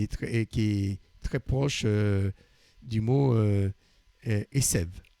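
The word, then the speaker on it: עשב: Esev. Hein, Asav, Esev. C'est juste l'herbe, c'est un B à la fin, et tandis que l'autre, c'est un V. Alors, dans l'herbe, c'est la lettre B est prononcée V.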